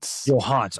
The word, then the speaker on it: Yohance: And I was like, "Okay, well, it's phonetically pronounced Johans." So, yeah, it's it's been a it's been a journey. So, Johans, Johans is the phonetic pronunciation.